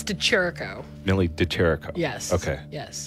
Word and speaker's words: DeChirico: say your last name because i'm going to mispronounce it but oh no it's to cherico nearly deterico yes okay yes just wanted to